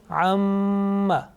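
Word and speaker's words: أَمَّا: Amma. Amma. Now you see that there is a sustained continuous nasal sound, okay, about 2 seconds.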